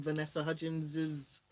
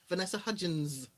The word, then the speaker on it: Vanessa Hudgins: a lot of stuff was unveiled um from vanessa hutchins's is that how you pronounce his name vanessa hudgins yeah judgments would be yeah okay from her